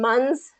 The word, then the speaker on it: months: So get that th in there.